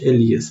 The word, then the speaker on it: Elias: Não é essa a pronúncia correta, porque ele é alemão, mas é Norbert Elias mesmo, com teimoso.